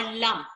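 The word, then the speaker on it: लम्: So, beach mantra of Muladhara chakra is lung, L-A-N-G, lung, or lam, L-A-M. Both are right.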